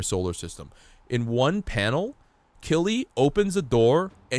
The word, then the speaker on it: Killy: His name is His name is Kiri, but it's Killy. Like you pronounce it Killy.